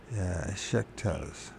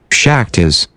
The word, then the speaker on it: Shaktas: The chief worshippers of Kelley are the Shektas. Shektas? Let's find out how to pronounce it. Buck. Shektas. Shektas. I guess this is a tiger. And then how do you say the thing? Shektas. Shaktas.